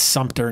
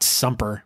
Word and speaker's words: Sumter: It's Sumter, not Sumper.